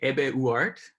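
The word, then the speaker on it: Hebe Uhart: I say Ebe Uart. But you know, it's one of those tricky names that, you know, Argentina is full of last names that are kind of, you know, they've been sort of repronounced in their new locations. So, you know, it's slightly tricky name.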